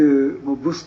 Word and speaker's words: 毒: 毒と書いてブスと読むんですよね。